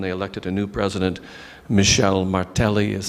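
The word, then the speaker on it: Michel Martelly: were held and they elected a new president Michelle Martelli is how they pronounce it I I don't know how good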